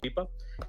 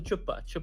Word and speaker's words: Chipa: A humanitarian, his name is Mr. Chipa, and she starts mispronouncing, and she calls him Chupa, and yeah, Chupa is look it up, and that became a meme in itself in Pakistan.